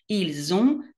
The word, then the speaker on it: ils ont: vous avez, ils ont, מחברים את ה-S ל-O ולא מבטאים את ה-T. ils ont, elles ont.